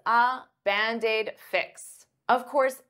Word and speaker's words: Band-Aid: it is it's it's band aid is two words but to pronounce them like one I'll take that D and transfer it to the vowel bandid bandaid bandaid Band-Aid fix